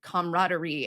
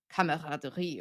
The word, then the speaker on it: camaraderie: We don't spell the word comrade, comrade, as we do the word camaraderie or camaraderie, which is spelled like the French word.